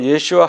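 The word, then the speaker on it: ישוע: 히브리 말로 나사렛 예수 유대인의 왕은요, 예슈아 하노츠리 멜렉 하 예후딤. 예슈아, 예수님의 히브리 발음이죠.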